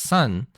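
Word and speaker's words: 三: the three spot because in Japanese three is pronounced sun and when you're saying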